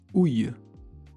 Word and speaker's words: ouille: Ou alors, un mot qu'on dit quand on a mal, on dit ouille.